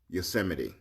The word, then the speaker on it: Yosemite: president of this country should know that yosemite is pronounced yosemite how do people still